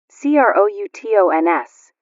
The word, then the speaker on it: croutons: C r o u t o ns accent on the last syllable.